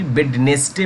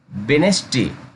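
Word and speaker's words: Wednesday: वेज, अब क्या है यहाँ पे अच्छे खासे स्टूडेंट्स को मैं देखा हूँ कि वेडनेसडे पढ़ता है, वेडनेसडे, क्योंकि ये गलत है। वेनेसडे क्या पढ़ा जाएगा, वेनेसडे, वेनेसडे।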